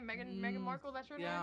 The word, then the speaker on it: Meghan Markle: Meghan Markle. Is that how you say her name? Meghan Markle, that's her yeah, name?